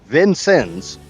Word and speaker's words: Vincennes: It is pronounced Vincennes.